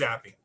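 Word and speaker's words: Zappe: his name for I don't know how to pronounce his name for I don't know how long. It's Zappy.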